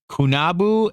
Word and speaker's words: Qunabu: They called cannabis, now this is spelled Qunabu, and the second one is Qunubu. They called it, and I'm going to call it this. They called it Kunabu and Kunubu, which could mean, they're